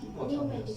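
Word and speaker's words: pneumatic: উচ্চারণ পি আসবে না, নিউমেটিক। এই যে নিউমেটিক পিটা উচ্চারণ হবে না।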